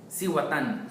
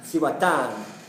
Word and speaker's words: Cihuatán: How do you pronounce it? Cihuatán. Cihuatán.